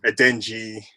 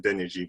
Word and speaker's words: Adeniji: People just say Adenji rather than Adeniji, but glad we've got that sorted.